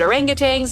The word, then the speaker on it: orangutan: and if you want to help critically endangered orangutangs yes that's how you say it already under